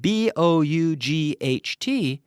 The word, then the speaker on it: bought: some of them and think of B-O-U-G-H-T as bought, as if it were B-O-T.